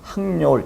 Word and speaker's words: 학여울: 써볼까요 한 여울인지 여울인지 대부분의 사람들은 이렇게 썼을 때 하교울이라고 발음하기 쉽거든요 하 겨울 그러면 어떤 사람은 제가 조금 전에 했었던 것처럼 학여울 이렇게 발음했을 때 어떤 거냐 하는 것이죠 만약에 하교울이라고 발음을 했다면